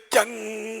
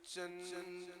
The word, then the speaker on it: چن: طرح پڑھیں تو ذرا، مکھ چند بدر وہ غلط زبان پہ چڑھا ہوا ہے، چند، چند مانے تو دو چار، چند، چندا اپنے یہاں بولتے ہیں اردو میں چاند کو، لیکن یہ کہ یہ پنجابی ہے نا تو پنجابی چند بولتے ہیں۔ مکھ چند بدر، را